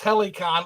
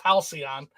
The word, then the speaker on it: Halcyon: Restock says Helicon is not pronounced Helicon. LOL. It's pronounced Halcyon.